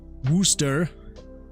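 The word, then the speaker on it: Worcester: Dorchester pronounced as spelled Worchester uh pronounced rooster and GL glue how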